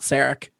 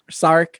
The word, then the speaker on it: Sarek: be more concerned about saric sark i think they did both of both pronunciations throughout that episode as well huh the